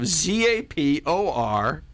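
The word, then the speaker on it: Zaporizhzhia: They're from the city of Zaporizhia. Exactly. You ever been there before? No, but that's exactly how you pronounce it.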